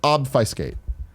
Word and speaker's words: obfuscate: skate it's obf us CAS T but it's pronounced obfuscated Bob always call that off you scale you